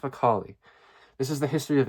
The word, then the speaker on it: Macaulay: Is it Lord Macaulay or Lord Molay? Macaulay. I think it's Macaulay.